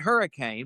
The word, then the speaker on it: Hurricane: Spelled hurricane, but it's pronounced hurricane for people living there.